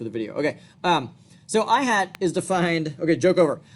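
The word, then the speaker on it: î: you've seen this before this is pronounced I hat see how the eye has a little hat distinct from what my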